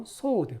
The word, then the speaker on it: sword: beautiful 아름다운 sword 발음이 sword입니다. sword 이 W가 소리가 안 납니다.